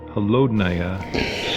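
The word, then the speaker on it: холодная: The Russian word for cold, holodnaya, seems better suited for expressing 50 below, especially if you stress the first syllable and shiver when saying the rest.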